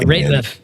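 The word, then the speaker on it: Rateliff: Excuse me if I'm mispronouncing his name. Yeah, Ratliff.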